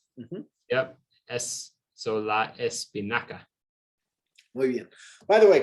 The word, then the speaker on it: espinaca: La espinaca, hard C or soft C? That'd be Yeah, so it's an a, hard. hard, ca. Mhm. Yep. So la espinaca.